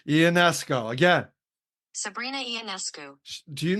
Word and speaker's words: Ionescu: People don't know how to say it. Ionescu.